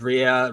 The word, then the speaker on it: Rhea: And stars Rhea Seehorn. Ray as I Seahorn, learned how to pronounce.